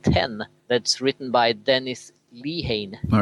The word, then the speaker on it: Lehane: that's written by Dennis Lehane. All right. Hope that's how we pronounce it. I think it's Lehane. Lehane, okay.